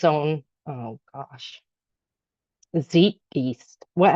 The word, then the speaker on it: Zeitgeist: Zeitge beast. What? How do you say that? Z E I T G E I S T Z Zeitgeist.